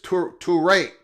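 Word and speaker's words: Toure: I don't say his name correctly. It is Torrey. I can't say my R's. It's not the only letter that I cannot pronounce. Mohamed Torrey, the linebacker from Rutgers, transfers to the Hurricanes.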